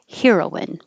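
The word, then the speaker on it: heroine: 21, heroin, a female hero. 22, heroin, the drug. They can sound exactly the same, but 21 can also be pronounced heroin. So you have more options.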